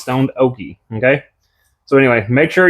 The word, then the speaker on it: Stoned Okie: After the video, I went back and looked at everybody's YouTube channel, and I found out that it's not Stone Dookie, it's Stoned Okie.